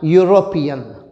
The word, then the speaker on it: European: Because though the spelling starts with EU, the sound heard is of consonant Y, European. E is along with U pronounced as Y, which is a consonant sound, not a vowel sound.